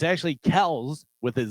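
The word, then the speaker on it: Kelce: one that dates Taylor Swift what's the last kelse kelse Kelsey Kelsey Kel Kel I'm sorry what is it it's supposed to be kelse I thought do you know prounce yeah why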